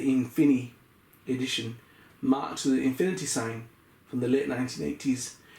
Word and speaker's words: Infini: It is pronounced like Infini, with the French style pronunciation of the in.